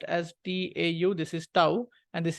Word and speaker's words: Tau: mention this difference between these symbols this is Tau it is pronounced as t-a-u this is Tau and this is T simply